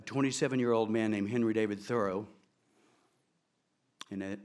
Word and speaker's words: Thoreau: man named Henry David Thoreau, and that is the correct pronunciation, by the way, he pronounced it Thoreau, who was considered to